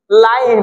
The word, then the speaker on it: line: Class 8 এর পরে হয় 9, দেখেন 9 বানানটা দেখেন না, NINE, 9। এইভাবেই তো চলবে, একটা একটা করে লাইন, দেখেন LINE, লাইন, একদম ইজি ম্যাটার, সব একই সিস্টেম।